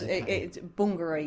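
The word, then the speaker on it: Bungaree: Bungary is the Yes. It's Bongari. Yeah. That's how the family pron we all pronounce it. Bongari.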